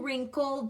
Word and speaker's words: wrinkled: read them this one or in wrinkled WR the W is silent and this one okay